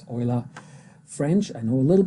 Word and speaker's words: Euler: to pronounce ola because he was from switzerland and he spoke german so it's oila french i know a